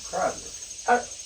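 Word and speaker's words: Kreidler: Cradler. Credler. Credler.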